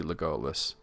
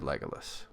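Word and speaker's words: Legolas: Matt that's actually correct grammatically speaking lolus uh it should be legus but tolken said legalis so even he was not always internally consistent if you were to follow his strict rules it would be legus but he said legus that's just the way it was anyway let's thank you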